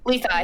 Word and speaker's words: Levi: Levi. His name is Levi, Levi, but it's spelled like Leafy because of how.